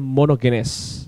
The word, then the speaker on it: monogenes: perlu melihat contohnya kata monogenis monogenis dalam eh pronounciation eh erasmian bacanya monogenes ya monogenis atau monogenes itu